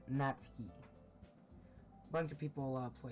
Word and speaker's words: Natsuki: Natsuki's head suddenly perks up.